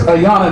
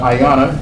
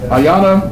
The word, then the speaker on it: Ayanna: he's not kidding okay our guest speaker is aana that's the way it's not pronounced not aana but Ayana Ayana Watson founder of the black atheist of America